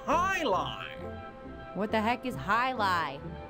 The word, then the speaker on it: jai alai: It's pronounced Highline.